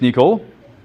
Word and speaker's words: N1QL: you have some yes n pronounced English is Niel just like a Niel and it's written n1ql and I have no